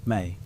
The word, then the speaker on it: me: The tablets talk about something called the me pronounced may.